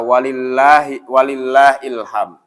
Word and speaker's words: walillahil hamd: Hanya saja bacanya itu yang harus benar, karena di masyarakat kita banyak yang salah membaca walillahil hamd. Jadi walillahil hamd, walillahil hamd, gitu kan? Jadi walillahil hamd, gitu kan? Ini yang salah.